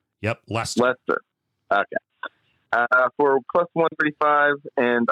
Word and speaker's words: Leicester: I can never pronounce that right. Leicester. Yep, Leicester.